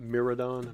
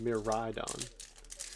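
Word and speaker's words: Miraidon: head me ride on it's not miradon meridon it's a mirror ride on guess I was saying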